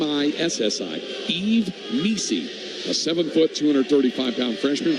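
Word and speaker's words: Yves Missi: that for game and in the middle is Eve Mei it's spelled y v s Eve and then Mei is spelled m i SS I Eve Mei a 7ot 235 lb freshman from yund De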